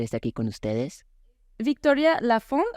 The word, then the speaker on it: Laphond: común allá pero sí no se pronuncia la última consonante Ajá Entonces sería latic